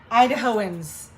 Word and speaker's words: Idahoans: we will be official idahoans is how you say it dad gets mad at me when i say it wrong idaho idahoans look at